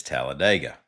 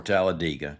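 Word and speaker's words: Talladega: What is Tallaladega or Tallaladega? Depends on how you do it.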